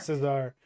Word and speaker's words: Cesar: pronounce his Yeah, last name? yeah. Cesar? Cesar.